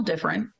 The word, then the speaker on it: different: Because we have 3-syllable words. There's so many of them that we will elide that middle syllable and it's not there. So when they spell different, they're saying it exactly the way that we say it.